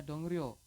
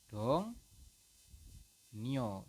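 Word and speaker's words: 동료: ini salah teman-teman ya Anda tidak boleh membacanya dong Rio tetapi anda membacanya adalah dongo dong noo seperti itu teman-teman berubahnya yang mana yang berubah yang berubahnya adalah si rel rnya itu berubah menjadi n teman-teman dong seperti itu ya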